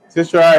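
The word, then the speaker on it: caesura: Sishwara is spelled C-A-E-S-U-R-A.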